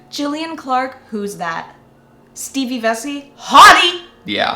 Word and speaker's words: Vesey: Stevie Vesey? Hottie! Yeah. Hottie! It rhymes. Stevie Vesey.